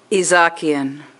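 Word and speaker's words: Izhakian: Okay, this is, how do you pronounce it? Izakian.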